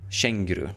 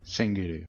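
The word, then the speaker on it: känguru: uh there you go this is how he's pronounced this is how you spell it so kangaroo shenguru shenguru yeah so kangaroo as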